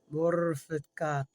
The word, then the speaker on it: Mortificato: Roll your R's corrective. Roll with me now. Roll. Mortificato.